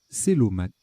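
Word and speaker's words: cœlomate: Je pense que c'est Kelomate. Kelomate. Célomate. Célomate. Oui, bah oui.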